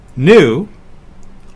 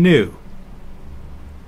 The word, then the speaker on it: nu: sound as in mother knew often confused with the English V is like the N in nu C is another one